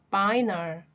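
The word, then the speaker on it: vinyl: 발음 조심해 주세요. 바이널.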